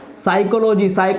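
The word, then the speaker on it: psychology: Smile, ये क्या height, साइकोलॉजी में पी साइलेंट हो गया।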